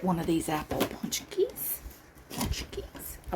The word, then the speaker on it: pączki: let me get one of these Apple punchies punchies I like saying it now that I know how to pronounce it it's fun to say okay now